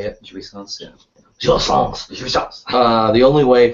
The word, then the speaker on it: jouissance: as the other of the symbolic law prohibits jouissance. Is that how you say it? Jouissance, yeah.